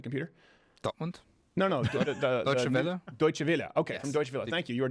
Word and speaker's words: Deutsche Welle: from spend computer from journalist how do you pronounce this pen defend computer don't want no no deutsche welle okay thank you you were dismissed a lawyer